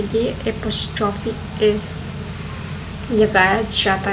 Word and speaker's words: apostrophe: और बहुत सारे लोग इसका प्रोनाउंसिएशन गलत करते हैं और गलत स्पेलिंग भी लिखते और बोलते हैं। तो आप ये कॉमा है उसे एपोस्ट्रोफी बोलते हैं, और मैंने यहाँ पे स्पेलिंग भी आपको दे रखी हूँ, जो कि ये है APOSTROPHE, एपोस्ट्रोफी।